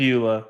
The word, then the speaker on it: Pribula: Is it Pribula? It's Pribula. Pribula. Because I thought it was Pribula, like fibula, but I was corrected. Yeah, he wasn't that's playing. exactly what I thought. Pribula, yes.